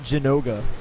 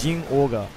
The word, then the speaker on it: Zinogre: It's not Jinoga. Yeah. It's Jin Olga.